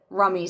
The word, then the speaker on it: Rumi: all that you're seeking like rummy says or Rumi depending on how you say it because I know everybody says it differently had people argue with